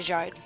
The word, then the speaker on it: Gide: Now over to this week's news, not Gide, Jide. That's how you pronounce the last name.